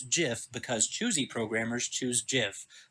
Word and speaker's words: GIF: it's graphic interchange format so it's a hard G on graphic or I toward short it should be if that line itself it should be gift but the person who created it the inventor says it's jiff because choosy programmer choose